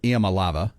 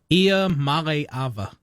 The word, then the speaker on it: Iamaleava: Nico Iamaleava. Did I say that wrong again? How do you say it? Iamaleava.